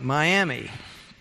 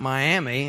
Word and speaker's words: Miami: you know it's like Miami well in Oklahoma it's not Miami it's miam we have to pronounce it differently so we know which